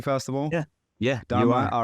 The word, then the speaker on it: Dharma: I want to make, am I pronouncing Dharma correctly, first of all? Yeah, Dharma.